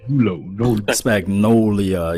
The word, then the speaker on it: Spagnuolo: Joe, we was talking off the record we were talking about Spagnolia. I think that's how you say his name. Yeah. Spagnolia, yeah.